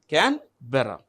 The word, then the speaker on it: Canberra: Canberra.